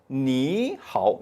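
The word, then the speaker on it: 你好: 그러니까 삼성이 올 때는 발음이 부드럽지가 않아요. 뭔 딱딱해. 너무 그러니까 요것을 물 흐르듯이 만들기 위해서, 부드럽게 만들기 위해서 앞에 삼성일 경우는 앞에 삼성을 이성으로 발음해 준다라는 하나의 규칙을 만든 거예요, 얘네들이. 그래서 니하오라고 발음해 줍니다.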